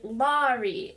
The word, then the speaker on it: Laurie: rhyme with story but my mom decided to name me Laurie and it's Lau oh my gosh and so that rhymes with like sorry like I'm sorry Laurie and I try to tell people this and it's really embarrassing because then could be like what is that and it's just terrible but officially it rhymes with sorry so you gotta get